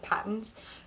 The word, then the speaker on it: Patons: The main color is Patons US, or Patons, I would pronounce it Patons.